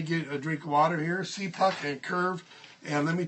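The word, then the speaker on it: CPUQ: I'll hope that you write these down a see puck pronounced see poxy p uq cpu q so what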